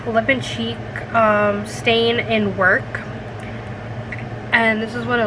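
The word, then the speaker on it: Werk: And then this is the lip and cheek stain in Work, and this is what it looks like.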